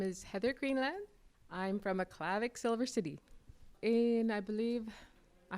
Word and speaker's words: Aklavik: bear and grizzly, and the proper pronunciation for it is Aklavik.